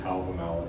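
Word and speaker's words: Hávamál: about my pronunciation of, I know it's Havamal in modern Icelandic.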